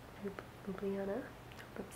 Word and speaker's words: Ljubljana: Ljubljana. If you see that written, it literally looks like a cat walked over your computer. But it's Ljubljana.